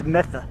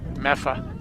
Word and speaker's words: Medford: The only one that isn't close is Medford. You know, That's Metha. Meffa, Say it right.